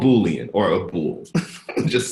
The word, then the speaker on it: boolean: I've had people call it a it's called boolean or a pool just say like AB or B ool all right even mispronounce on tablets a bullet there's gonna give